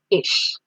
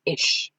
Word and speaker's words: ich: So in this first person singular form we have ish. I have written the pronunciation here. It's ish.